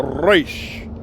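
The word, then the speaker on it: ריש: And then you have another letter, resh, resh. That's like, okay, tzare is like TS. But the correct pronunciation of tzare, tzare, you hear that? Tzare. Then you have resh. Resh is like the R.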